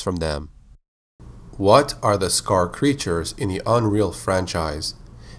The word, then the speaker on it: Skaarj: What are the Skaar creatures in the Unreal franchise? While their name is spelled Skaarj, the proper pronunciation is just Skaar.